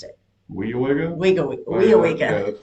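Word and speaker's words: Weyauwega: I've never We seen that Weowega is how you pronounced it. Weowega? Weowega.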